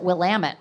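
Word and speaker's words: Willamette: Just want to say the one from Portland, Oregon row on the beautiful Wamut River. And remind us that Wamut rhymes with Damitut.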